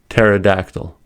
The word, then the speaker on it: pterodactyl: First, if the P is followed by an N, S, or T, creating a PN, PS, or PT bond, especially at the beginning of a word, then the P is silent.